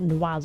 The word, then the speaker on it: Noiz: Noise, that's how you say his name, not Noise, whatever the hell I was saying. Noise. So it's literally just like noise, noisy, but like different.